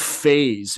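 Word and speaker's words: Phaez: What's uh, they're called Phase. It's spelled P H A E Z.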